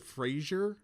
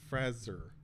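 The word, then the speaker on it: Fraser: M Night shamalan like I overthink how to pronounce his name now cuz I've always said Frasier like Brenan Frasier but it's actually like FR Frazer like Frazer it's Frasier he doesn't get to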